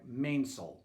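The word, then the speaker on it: mainsail: pronunciation guide for you in all the names that end with the word sale pronounce that as saul so it would be like mainsult forcel the third sail from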